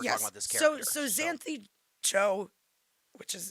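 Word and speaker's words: Xanthe Zhou: So Xanthe Joe, which is it's pronounced like Joe, as in Joe. Hey Joe.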